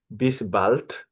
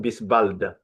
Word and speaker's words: bis bald: And then you have this expression, bis bald, not bis bald. I repeat again, bis bald, which means see you soon, all right?